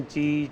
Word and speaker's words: chi: अब आपकी मर्जी इसकी प्रोनाउंसिएशन ची चाय की कुछ भी करिए, राइट.